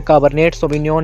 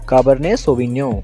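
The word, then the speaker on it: Cabernet Sauvignon: काबर्ने सोविन्यो, काबर्ने में टी और सोविन्यो में एन साइलेंट रहेगा। इसको हमने काबर्नेट सोविन्योन नहीं बोलना है, इसको हमने बोलना है काबर्ने सोविन्यो।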